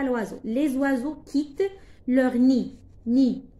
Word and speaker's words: nid: Les oiseaux quittent leur nid. Nid. On ne prononce pas des. Nid.